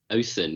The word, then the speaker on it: Othen: How do you say your surname? Othen. Othen. It's a Viking name.